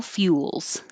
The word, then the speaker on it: fuels: Fossil fuels. Fossil, pretty easy, but fuels has a lot of movement. Few, you're starting with your tongue in a Y position at the same time you make the F.